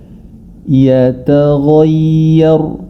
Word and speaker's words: yataghayyar: Yata ta juga harus diperhatikan dalam membacanya. Yata biasa, kemudian huruf ghain baru dia tebal. Yatagho. Nah, huruf ya ini yang perlu kita perhatikan lebih jauh karena dia diapit oleh dua huruf yang tebal dalam kondisi ini. Jadi cara membacanya adalah yataghayyar, yataghayyar. Barakallahu fikum.